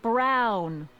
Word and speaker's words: Brown: bill to a T that's Emmett Brown rhymes with clown which I'm beginning to